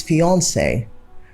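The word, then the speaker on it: fiancée: then the next is fiancee fiancee has three syllables but most times we pronounce it as just two fianc the next one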